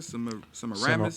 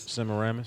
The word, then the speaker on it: Semiramis: Semiramis. Semiramis.